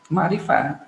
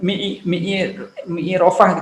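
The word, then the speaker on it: معرفة: Ma'rifah, bukan mi'i rofah gitu enggak, atau ma'rofah enggak, ma'rifah.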